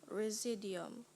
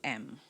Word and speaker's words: residuum: Residium. Residium. No, it's Residuum.